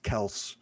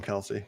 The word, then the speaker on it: Kelce: Same thing with Travis Kelce, but everyone still calls him Kelsey because stupid.